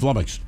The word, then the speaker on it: flummoxed: It's flummoxed. Rhymes with stomachs.